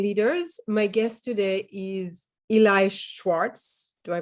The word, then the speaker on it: Eli Schwartz: My guest today is Eli Schwartz. Do I pronounce it okay?